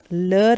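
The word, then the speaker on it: leurs: the same lure and for plural it is lure again but within s the pronunciation is the same but it ends with an s so if you want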